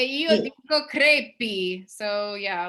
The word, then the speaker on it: crepi: And then you say crepe? Crepi. Crepe. In bocca al lupo. Do you spell that again? Crepe? Crepi. Crepe. Crepi. Oh, it's I.